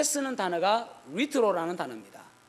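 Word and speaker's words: λύτρον: 그 다음에 지금 이제 에베소서 1장 7절에 속량이라는 단어는 리트로라는 단어를 썼습니다. 리트로. LUTRO, 리트로입니다. U가 이제 그 히브리어 헬라어로는 위 발음입니다. 위. 그래서 리트로거든요.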